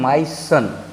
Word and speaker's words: moisten: एक और शब्द देख लीजिए आप, MOISTEN, इसको हम लोग पढ़ते हैं माइसन।